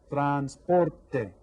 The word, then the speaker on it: transporte: Transporte. How many syllables? 3 syllables. Which one is stressed? Transporte. Can you hear that? Transporte. The second one, transporte.